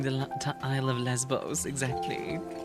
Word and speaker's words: Lesbos: Name the Isle of Lesbos, exactly. It's pronounced Lebeau. No, it's Lesbos.